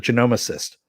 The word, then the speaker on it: genomicist: to know especially as uh you know a genomicist which is by the way the how you pronounce that not the way yvonne pronounced it